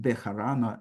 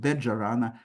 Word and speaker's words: Bejarano: areas, but of course it is not pronounced Bejarano as in modern Spanish. It's pronounced Bet-Jarano according to the pronunciation in the medieval Spain that was kept by Ladino.